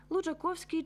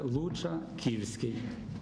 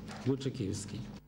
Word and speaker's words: Лучаківський: чуємо десь такі слова лучаковський чи лучаківський під час репрезентації пролили світло і на цю дискусію адже літера о у цьому прізвищі пишеться з позначкою що читається як і будемо вважати що це